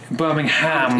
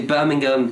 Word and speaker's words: Birmingham: You have to pronounce the ham, though. Birmingham. In fact, because I'm a Brummie, I would say Birmingham.